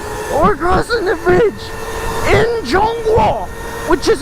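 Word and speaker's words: 中国: We're crossing the bridge in Zhongguo, which is how you say China in Chinese.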